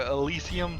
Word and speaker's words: Elysian: and the Elysian Tale, or Elysium Tale, it seems like it's been pronounced. I would have said Elysian, but the introductory guy who voiced it pronounced it differently, so I'll bow to his knowledge.